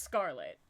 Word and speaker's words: Schrltt: But it's pronounced Scarlet.